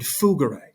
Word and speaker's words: fugere: So down below in green, we have two Latin words. We have gains and fugere. Right? They're both G sounds.